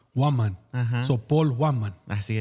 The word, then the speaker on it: Huaman: ¿Cómo se dice? Se dice Waman. Waman.